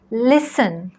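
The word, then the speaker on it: listen: व्हिडिओमध्ये आपण शिकणार आहोत वर्ड्स विथ सायलेंट टी असे शब्द ज्यांच्यामध्ये टी हा लेटर आपल्याला उच्चारायचा नाही आहे castle Christmas फासन match hustle लिसन मॉर्गेज नेसले ऑफन विचन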